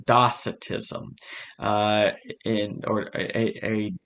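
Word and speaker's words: docetism: t i s m but the C is pronounced like an uh docitism uh in or a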